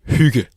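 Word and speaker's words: hygge: So, it's pronounced huga.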